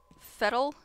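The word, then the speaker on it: Fettel: We are still trying to find Fettle. Yeah, because it rhymes with kettle.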